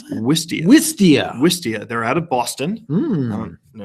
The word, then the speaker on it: Wistia: How do you pronounce that? Wistia.